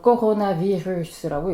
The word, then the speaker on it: coronavirus: 코로나 바이러스는 불어로 코로나비루스라고 읽습니다.